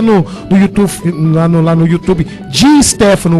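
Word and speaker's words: Di Stéfano: Dá uma olhadinha lá, molecada, lá, joga lá no YouTube, lá no YouTube, Di Stefano, o S é mudo, tá?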